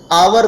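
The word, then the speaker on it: hour: होगा और मीत मी आवर्त साइलेंट होता है अवर पढ़ते हैं इसलिए एन का प्रयोग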